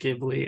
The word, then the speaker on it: Ghibli: I'm gonna say Ghibli. It's gonna happen, but It's all good, dude. whatever. Still love ya. Okay, so we're gonna talk about our top three favorite Studio Ghibli movies, and we are gonna also mention honorable mentions.